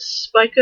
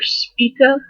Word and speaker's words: Spica: Oh, I don't know if you pronounce it Spica or Spica. Just take the word spice and replace the E with an A.